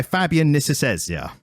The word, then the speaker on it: Fabian Nicieza: And is written by Fabian Nicieza.